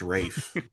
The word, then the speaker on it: Ralph: Spelled Ralph but pronounced Rafe.